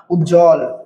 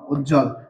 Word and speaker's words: উজ্জ্বল: তার কারণে এই বফালার উচ্চারণ হবে না। বফালার উচ্চারণ কি হবে না। উজ্জ্বল রসু জ এ হস জ আর ল উজ্জ্বল।